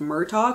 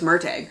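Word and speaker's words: Murtagh: did not read merg I thought it was pronounced MTO cuz I thought there was an extra letter in there but no it's mteg or at least that's how they pronounce it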